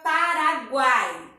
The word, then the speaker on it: Paraguai: Por exemplo, a palavra Paraguai. Percebe lá no finalzinho? Guai. Percebe que o A ele sai muito mais forte do que o U e do que o I?